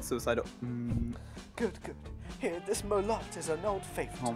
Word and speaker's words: Merlot: Merlot. It's Merlot. It's not pronounced Merlot. It's Merlot.